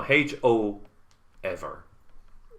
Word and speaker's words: Hoever: they pronounce I it. thought it was like quavers, like the crisps. No, Ho ever.